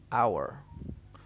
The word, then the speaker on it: hour: now we move to the fourth one where the h is silent and the word below honest honor hour honest honor hour all